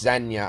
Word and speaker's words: Zegna: I think it's pronounced Xenia. I think the G is like silent.